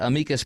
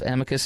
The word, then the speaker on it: amicus: G he's filed a amikas brief Amicus amikas same thing people pronounce it differently it's a front of